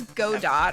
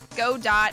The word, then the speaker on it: Godot: knows what he means you don't pronounce the T well guess what I'm pronouncing the C godot it is that sounds